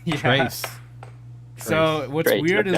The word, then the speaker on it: Trace: Is that pronounced correctly? Yeah. Trace.